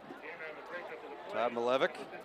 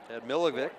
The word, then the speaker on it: Tad Milevic: Todd Milevic. Tad Milevic is how it's pronounced by the PA announcer.